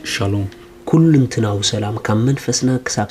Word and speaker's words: shalom: እዛ ሰላም እዚኣ ሻሎም እያ ትብል Den här friden uttalas shalom.